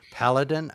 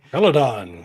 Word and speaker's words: Peladon: You know, that reminds me of I believe it was the third Doctor who went to the planet Paladin. I think I'm pronouncing it correctly. Peladon.